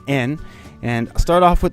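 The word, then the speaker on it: 円: In Japanese pronunciation, it's not yen, though, it's en.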